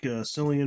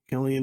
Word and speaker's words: Cillian: Alex Garland uh starring selian Murphy kellian Murphy I think is how you pronounce it actually um who just